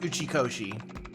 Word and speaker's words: Uchikoshi: I think I'm accidentally putting an S in that. It's actually pronounced Uchikoshi, but I keep putting in an S in there because I'm just gonna blame my very, very Canadian accent.